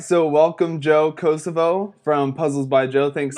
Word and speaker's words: Cassavaugh: Cassavaugh or Cassavaugh or is it like There's Van no O in Gogh? it, so Cassavaugh was good. It's Cassa. pronounced Casanova with no no.